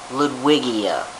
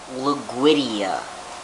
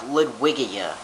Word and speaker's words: Ludwigia: watched the other day he pronounced it liguidia like how do you get luguidia liquidia out of ludwigia okay it's pronounced okay